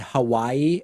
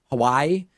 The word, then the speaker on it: Hawaii: I made an effort to say Nevada and Hawaii as opposed to Nevada and Hawaii and that's it i